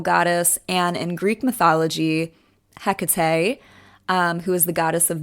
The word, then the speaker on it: Hecate: me also say that her name can be pronounced differently. So I say Hecate, but there are many people who say Hecate. I've heard Hecate. So just be aware, there's many pronunciations.